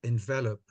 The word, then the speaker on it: envelop: Toastmaster Irene, can I just, when you pronounce it like this, it's pronounced envelop. The word envelope is for the paper thing that you...